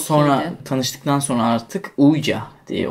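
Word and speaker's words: Ouija: Sonra tanıştıktan sonra artık Uyca diye okunuyor.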